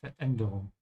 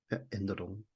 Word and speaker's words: Veränderung: Die Veränderung, and add a bit of a hiccup here, a bit of a pause. Veränderung. Veränderung.